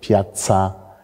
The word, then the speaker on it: piazza: ist nämlich etymologisch bedingt Piazza kommt von lanisch Platia Platia da sehen wir ein T und metzo komm von L medzo auch falsch ausgesprochen kommt von lateinisch Mediu Mediu und da sehen sie ein D und das D natürlich stimmhaft deshalb haben wir medo stimmhaft und Piazza stimmlos hat sich also tatsächlich